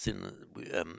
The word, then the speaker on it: syn: And then with the prefix some, which incidentally is cognate with the Greek syn, well, modern English pronounced syn, S-Y-N, and also cognate, and